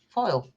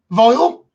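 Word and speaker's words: phial: Foil. Vial. It says pH. Vial? That's how you spell it.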